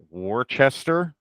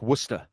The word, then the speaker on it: Worcester: next one which is Worcester and I go Worchester I did that's what I said yeah and then she's like no it's Worcester W so I was like okay and I'm